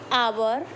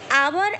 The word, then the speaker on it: hour: Example, an, honest, and hour. Here, hour and honest both words begin with consonant word. Here H is silent, so we use an before them.